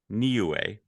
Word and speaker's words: Niue: Niue. It gives me the phonetic pronunciation because I wouldn't have known that.